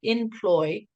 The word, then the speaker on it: inploi: hey h-e-y and you're the CEO co-founder of employee which is in ploi very clever we have